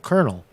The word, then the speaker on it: colonel: Colonel well call Colonel is that how you pronounced Colonel c-o-l-o-n-e-l conal kernel uh Douglas MacGregor made